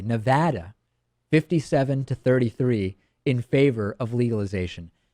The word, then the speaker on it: Nevada: And in Nevada, not Nevada, I now pronounce it correctly, Nevada, 57-33 in favor of legalization.